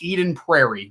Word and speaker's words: Eden Prairie: So I want to go back to, I think it's pronounced Eden Prairie.